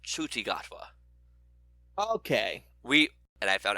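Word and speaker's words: Ncuti Gatwa: coming back also the new doctor's name is pronounced chuchigatwa okay we and I found out how to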